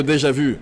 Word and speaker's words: déjà vu: potion de déjà vu, obviously. I mean, you are the proper person to pronounce it correctly.